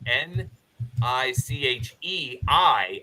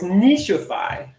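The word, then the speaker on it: niche: I would spell it n i c h i FY I don't know if that matters at all oh no nichy no Nichi I don't know anyway you're saying wrong it's Nishi n now it'll be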